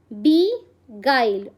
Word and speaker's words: beguile: It's pronounced as beguile.